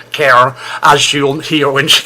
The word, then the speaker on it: Karen: The lady on the left there of the picture is Karen, and if you're from the southern states, you've got to pronounce it Karen, as you'll hear when she comes up in the jingles.